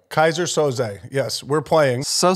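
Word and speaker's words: Keyser Söze: then it's Kaiser sose it's Kaiser so say Kaiser Soze yes we're playing so say what it is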